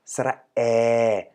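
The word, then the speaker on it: สระแอ: we have to make sure that we all pronounce it the same way. Now, this is the card of sara air, and as you can see, there's twice basically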